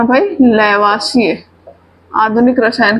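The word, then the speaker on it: Lavoisier: इसी को कभी कहीं लैवोइजर बोलता है ना। ये कहीं कहीं लिखा रहता है, तो परेशान नहीं होंगे, वो इंग्लिश की स्पेलिंग के अकॉर्डिंग वो लैवोइजर बोल सकते हैं, है ना।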